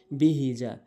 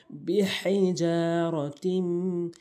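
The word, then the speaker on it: بِحِجَارَةٍ: এখানে অধিকাংশ লোকই ভুল বলে, বিহিজা, বিহিজা বলে, ছোট হাইনে উচ্চারণ করে। এখানে বড় হাইনে উচ্চারণ করতে হবে, বিহিজারাতিম, বিহিজারাতিম মিন সিজ্জিল।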